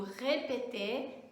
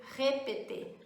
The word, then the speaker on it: répéter: Então, quando eu digo répéter, tem um acento agudo, eu sei que aquele E é fechado, não é é um E, répéter.